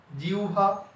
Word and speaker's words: জিহ্বা: জি, হ এর পরিবর্তনে হবে উ আর ব এর পরিবর্তনে হবে ভা, জিহ্বা।